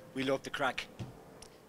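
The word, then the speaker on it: craic: And we have a very, very common term, and it is called, we love the crack. Crack is spelled C-R-A-I-C, and it comes from an old Irish word.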